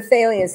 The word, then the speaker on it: Thalians: But Thalians, is that how you pronounce it? Yes, the Thalians.